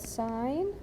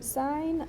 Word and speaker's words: sine: So sine is usually S-I-N, which please don't pronounce that sin, it's sine still.